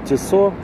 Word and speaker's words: Tissot: Это Tissot, ну или правильно говорить Tissot, и вот моделька.